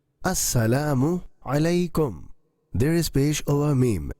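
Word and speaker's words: السلام عليكم: Saikum, saikum. Samikum, samikum. It is absolutely wrong. Assalamu alaikum. There is pesh over meme and ayn is pronounced through throat.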